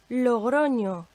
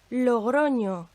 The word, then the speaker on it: Logroño: It's an Nye, and it makes the sounds of N and Y together, like in the English word canyon. Again, listen to the example. En español, Logroño, Logroño.